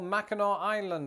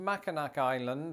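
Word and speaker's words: Mackinac Island: Like for example, Macheno Island, which is not pronounced Machinak Island, or instead of Orlando, Florida, check out St.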